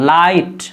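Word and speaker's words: light: यहाँ भी देखिए राइट, राइट, यहाँ पढ़ेंगे लाइट, देखिए टी आखिर में, जी एच के बाद लाइट, लाइट, तो जी को नहीं पढ़ते हैं।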